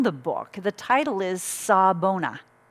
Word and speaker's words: Sawubona: book the title is sabona saw bonus spelled s-a-w-u which is silent b-o-n-a sabona is a greeting